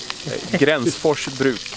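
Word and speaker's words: Gränsfors Bruk: But if anyone wants to really know how it's pronounced, we have an expert here from Sweden. Just flown in here. Gränsforsbruk.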